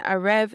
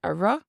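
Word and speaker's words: a raibh: Now, instead of saying a rev, they pronounce it like a ra.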